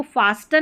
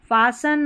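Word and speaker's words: fasten: जैसे इसको फास्टन नहीं पढ़ेंगे। फ़सन मॉइस्टन नहीं मॉइससन पढ़ेंगे। मोइसन ठीक है? यहां पर देखिए लिसन नहीं लिसन सुनना लिसन नहीं लिसन फासन मोइससन लिसन ऐसे पढ़ना है फासन का मतलब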